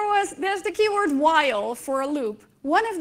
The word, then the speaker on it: while: there's the key word while for a loop one of the kids said that it would be pronounced Vila we said no it's wrong you say while he said yeah but